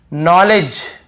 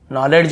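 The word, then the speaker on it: knowledge: नॉलेज यहां पर भी देखिए नॉलेज यहां पर भी डी साइलेंट है। नॉलेज ये नहीं है। नॉलेज डी भी साइलेंट है और यहां पे के भी साइलेंट है।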